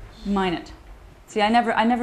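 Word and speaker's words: Minot: going with - okay I'm going with - mine it see I never I never know how to pronounce that okay that's just excellent I've learned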